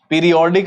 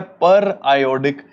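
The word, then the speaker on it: periodic: पीरियोडिक लगता है देखने में, पर इसका पढ़ने का तरीका है पर आयोडिक क्लीवेज ऑफ ग्लाइकोल्स, ठीक है।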